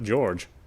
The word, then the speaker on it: George: His name is pronounced Ishiromiya George.